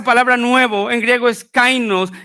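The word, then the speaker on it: καινός: Pero esa palabra nuevo en griego es una palabra que se pronuncia kainos, y el sentido de esa palabra es que dice que Dios derribó todos los instrumentos del hombre.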